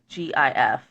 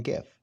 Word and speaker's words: GIF: So, I would only pronounce it that way if it began with a J. And there's there's my argument for it being GIF and not GIF.